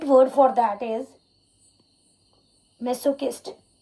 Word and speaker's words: masochist: Then the right word for that is masochist. It's not masochist, it's kist. Masochist is the right pronunciation of that word.